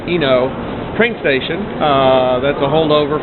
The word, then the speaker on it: Ueno: And then the marketplace that I found yesterday near the Ueno, U-E-N-O, I think it's pronounced Eno, train station.